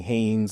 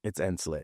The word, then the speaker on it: Hansley: So Hansley, but it's spelled Hansley. Okay. So it looks like Hansley. Mm-hmm. So a lot of my friends might call me Haynes or something like that, or Hans, but it's Hansley.